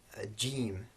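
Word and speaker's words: ج: Then we have jeem. This is just the equivalent of the English J, as in Jack and Jim, for example.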